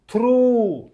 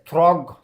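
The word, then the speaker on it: through: रे जमती B silent रहा हाई रे जी साइलेंट रहा से थ्रू थ्रू थ्रू देख थ्रू एतिरे को अक्षरटी थ्रू आमे जदि ठीक से पढ़ा जीएच थ्रग थ्रग हम एटा तेणु आमर एटा जीटा आमर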